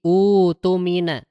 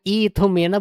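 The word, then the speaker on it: اؤْتُمِنَ: Jadi catatannya, Al-Baqarah 283, dibacanya menjadi utumina. Bukan itumina, bukan atumina. Salah ya.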